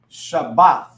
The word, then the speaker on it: Shabbat: Shabbat, right?